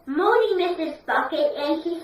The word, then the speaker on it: Bucket: Bucket," and she says, "No, it's Bouquet," because she doesn't like to be pronounced Bucket, don't you?